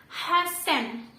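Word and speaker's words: 八千: 8000 itu dia dibacanya hasen.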